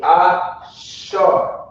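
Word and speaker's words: אשר: So again, We got to connect the last two characters, making it A-shar. That's how you pronounce it. A-shar.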